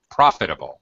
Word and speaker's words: profitable: profitable not profitable uh first syllable stress profitable profitable profitable yeah uh able okay